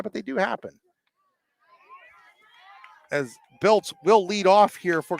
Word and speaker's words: Biltz: Again, I do apologize to Jenna Biltz and her family for mispronouncing the name all game. It's sitting right in front of me, B-I-L-T-Z, and I was seeing B-L-I-T-Z.